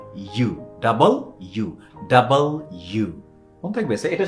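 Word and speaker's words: W: মন যেন থাকে হ্যাঁ ওকে এন্ড দেন এইটার উচ্চারণ আমরা ভুল করি আমরা বলি ডাব্লি কি বলি মিলটন কি বলছিল ডাব্লি ডব্লি হ্যা ওটা ডাব্লি না এটা খুব সহজ সেটা হচ্ছে কি ডাবল ইউ ডাবল মানে কি দ্বিগুণ না ওই ডাবল দুই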